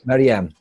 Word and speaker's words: Marianne: Maria. Yeah, it's not. No, first it's not Maria, but it's very similar. But it's okay. Marianne, I think. Marianne, yes.